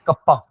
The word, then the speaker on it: kappa: ठीक है, pronounced as कप्पा.